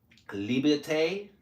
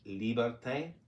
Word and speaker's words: liberté: Liberté is how they say it in French. Liberté.